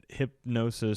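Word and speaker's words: Hipgnosis: Yeah, Justin Bieber sells music rights for over 200 million to Hypnosis. I think it's a hip spelling of the G. Hypnosis. Oh God, yeah, the G is silent. Hypnosis Songs Capital.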